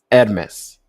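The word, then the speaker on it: Hermès: This is very Hermes. Hermes Hermes. Yeah, not Hermes.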